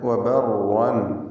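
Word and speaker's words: وَبَرًّا: വബർ എന്നിങ്ങനെ വിറപ്പിച്ച് കൂടുതൽ റാഇകളെ ഉച്ചരിക്കരുത് എന്നർത്ഥം. വബർവാൻ ഒറ്റ റാഇ തഫ്ഖീമോടുകൂടി ഉച്ചരിക്കുക, തടിപ്പിച്ച് സ്വരഭാരത്തോടെ ഉച്ചരിക്കുക.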